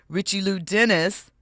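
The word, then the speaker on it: Richelieu Dennis: Richie Lou Dennis, that's how you say his name, he praised her leadership, saying her expertise in culture, equity, and organizational change fueled progress.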